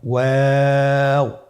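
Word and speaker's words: واو: আমরা স্ক্রিনে দেখতে পাচ্ছি ওয়াও হরফটি উচ্চারণের ক্ষেত্রে বারিক হবে এবং 3 আলিফ টেনে পড়তে হবে। আপনারা আমার সাথে বলুন ওয়াও ওয়াও। 2 ঠোঁট গোল করে মাঝখানে ফাঁক রেখে হরফটি উচ্চারণ করতে হবে।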